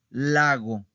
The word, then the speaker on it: lago: O tenemos otro ejemplo, lago, lago. ¿Ok? Lago. ¿En dónde está el acento? ¿En dónde está la sílaba tónica? En la penúltima, ¿verdad? No en la última.